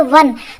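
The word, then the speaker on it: one: इसी प्रकार से ओ एन ई, इसे हम लोग बोलते हैं वन, तो वा से वट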